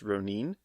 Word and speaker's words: Ronin: He's now Ronin, which Ronin, which I actually think it's actually pronounced Ronin, Japanese.